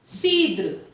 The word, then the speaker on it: cidre: Then cidre. Cidre. Now, as you can see in this all three examples, if C is followed by E or I, तो उसका sounding हो गया है S.